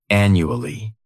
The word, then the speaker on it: annually: The first adverb is annually. This word has 4 syllables, and the stress is on that first syllable, the second syllable. It's like you're just saying that letter U.